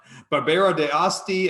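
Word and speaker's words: Barbera d'Asti: the wonderful Pico Macario trevori it's so fun Barbara de Asti I got that one down that's how you pronounce it it's a beautiful Northwestern Italian red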